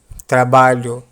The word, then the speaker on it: trabalho: When you naturally pronounce the sound of the letter E, it doesn't appear much in the word, and this way the sound of LH begins to appear in the word.